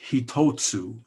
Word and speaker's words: hitotsu: I learned a long time ago to count exhalations in Japanese because, number one is hitotsu. That's 3 syllables.